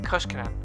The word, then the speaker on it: Koskinen: ultimate teacher's aid okay Kos Canan okay I was saying it wrong all right well